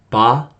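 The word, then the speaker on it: ば: going to do is change that H to the B sound. Okay, so ha, hi, hu, he, ho becomes ba, bi, bu, be, bo.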